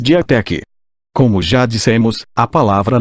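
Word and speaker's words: διαθήκη: interesse e indicar livros Esta palavra no latim é pronunciada como testamento em grego pronunciamos diatec Como já dissemos a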